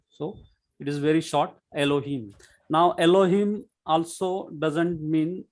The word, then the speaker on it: Elohim: So that E gives a very short sound. E gives a very short sound, Elohim.